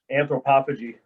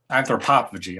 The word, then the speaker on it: Anthropophagy: you have a brand new album coming out, Anthropophagy, right? Is that how I pronounce that? Anthropophagy. Anthropophagy, okay.